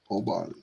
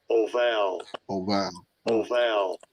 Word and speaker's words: Obal: Obal. Strong's H, 5745. Oval. Okay. Well, same thing, just different pronunciation.